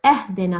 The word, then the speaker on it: اهدنا: So you said اهدنا الصراط. Now there's no in Arabic, okay? Alif with kasra underneath, this is pronounced I. So when you then join it to the ha, it will be I.